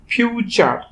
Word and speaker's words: future: ঠিক একইভাবে FUTURE, ফিউচার, কারণ টিতে হয়েছে চ, ইউটা হয়েছে আ।